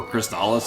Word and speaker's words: Crystalis: I talk up Crystallis a lot or Cristales as like everyone else except for me pronounces it.